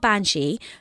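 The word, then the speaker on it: Bean Sí: They're called Banshee. They spell it B-E-A-N-S-I Fada.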